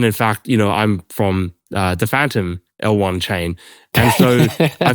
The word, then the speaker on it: Fantom: So Fantom obviously like is Fantom, but phonetically it's Phantom, right?